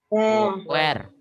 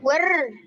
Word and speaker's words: were: where. Bacanya bukan where. were, Karena kalau where, nanti artinya jadi di mana gitu ya.